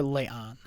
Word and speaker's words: La'an: You keep calling her La'an. It's not Leon.